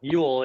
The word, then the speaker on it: Ewell: highlight Andre Yool Yool is kind of how you would say it